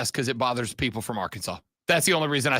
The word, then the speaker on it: Arkansas: declaring that the state's name should be spelled Arkansas but pronounced Arkansas so it's actually uh it is